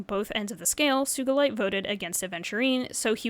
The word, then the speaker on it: Sugilite: some people pronounce it Sugilite or something like that. Apparently the word has Japanese origins though, and there's no soft G in Japanese, so I'm going with Sugilite.